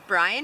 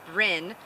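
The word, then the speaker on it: Bryn: always got wrong uh I thought it was Brian it was b r y a b r y n Lions um which was a wizard character one of the main characters in love interest in a love triangle uh Kimberly Frost's uh Southern witch series and it was actually Brin um and not Bryan so I got wrong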